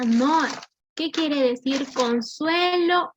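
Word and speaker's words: נח: Nos dice que el nombre de Noé en hebreo se pronuncia Noah.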